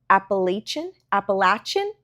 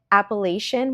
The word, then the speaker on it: Appalachian: It takes place in the, hold on, Appalachian Mountains. I have pronounced it Appalachian my entire life, but I've been hearing people from the area call it Appalachian. So I'm trying to do that now.